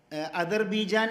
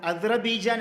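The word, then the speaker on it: أذربيجان: അദർബീജാൻ എന്നാണോ അദ്റബീജാൻ എന്നാണോ രണ്ട് ഉച്ചാരണവും അറബി ഭാഷയിലുണ്ട്.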